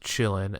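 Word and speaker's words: Qilin: But the cute, pronounced Chillin, not spelled that way at all if you ever want to look it up, mini deer, shiny, majestic creature looks very good.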